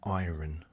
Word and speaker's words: iron: I know it's spelt with an I-R-O-N. But the R is silent.